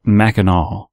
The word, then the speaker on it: Mackinac: For the record, it sounds like Macki-naw. Pretty much everyone out of state pronounces it wrong.